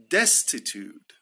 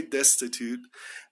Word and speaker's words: destitute: you want to say destitute um the British pronunciation is a little bit different they don't pronounce the T as much uh but so if